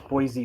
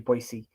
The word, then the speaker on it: Boise: Boise is my home. Boise, yeah. Boise. Actually, everyone says Boise, but it's actually Boise.